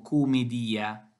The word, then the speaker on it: Comedìa: dal titolo dante lecore due volte al greci smo comedia con o sitonia ovvero la 100 finale tipico dei nomi greci secondo la pronuncia medievale nell'inferno al canto xvi